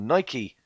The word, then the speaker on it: Nike: As Nike, or Nike, as it's pronounced correctly.